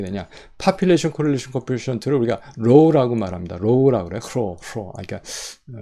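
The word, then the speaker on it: rho: population correlation coefficient를 우리가 row라고 말합니다. row라고 그래요. row. 그러니까 그릭 발음은 그런데 row라고 그래요. row라고 그래요.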